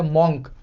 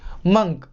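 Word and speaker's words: monk: अगर आपने इसे पढ़ा है मॉन्क, तो आप गलत हैं। इसकी सही प्रोनाउंसिएशन होगी मंक।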